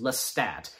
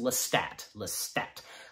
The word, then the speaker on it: Lestat: Gotta keep that in mind, how his name is pronounced. Lestat.